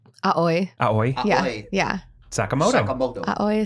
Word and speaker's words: Aoi: Aoi.